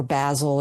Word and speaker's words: Basel: And she also took several of us to Red Dot Miami, which is Miami Art Week part of the Basel or Basel, if you pronounce it like that, Art Basel Miami.